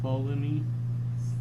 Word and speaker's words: Ptolemy: Galileo, Galilei, Claudius Ptolemy, assuming T is silent, Nicholas Copernicus, Christian Huygens, and this is Frank.